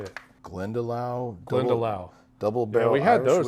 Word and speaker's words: Glendalough: And then they also had the Glendoro. I can't remember how you say it. Glendalough.